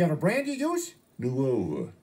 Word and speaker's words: Nuova: Nuova. Muova? Nuova. That's what I said, Muova. It's Nuova, with an N.